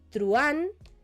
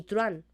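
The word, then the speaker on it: truhán: Truán, guío, críe, etc. En truán, aunque tengamos un H en medio, recordemos que técnicamente no se pronuncia, por lo tanto tendríamos un diptongo, ¿vale?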